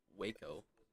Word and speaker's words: Waco: WACO.